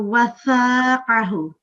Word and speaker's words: وثاقه: Also, just one little thing that we have a tha here. I don't know if I heard it correctly, but I thought you were pronouncing it as a sin. So wathaqahu.